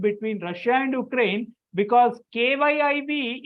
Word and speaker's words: Kyiv: Russia and Ukraine because kyiv is not the same as Kiev the pronunciation is different if the the ukraines have k y i b the Russian stock Kiev and their separate and